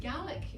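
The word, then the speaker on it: Gaelic: language our mother tongue we pronounce it GAC in this country which I can no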